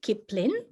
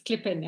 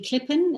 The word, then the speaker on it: Klipin: was going to say my surname is pronounced differently oh so yeah sorry it's clipping okay awesome hi it's